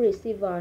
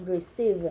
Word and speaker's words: receive: Cái chỗ receiver này còn hơi, cái chữ v nó hơi dài ra ha. Receive, mới mình tiết chế lại chút xíu.